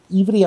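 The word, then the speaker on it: עברי: Die Hebräer selber wird ja Ivri ausgesprochen. Da kannst du schön nachschauen.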